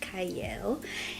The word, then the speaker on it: Qiayel: it starts with a q but it is pronounced cyle and I have a special guest with me